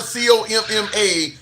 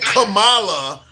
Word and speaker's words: Kamala: Like the like the punctuation comma. Think comma c o m m a and then la. When you're saying kamala, it's you're pronouncing it wrong. It's comma.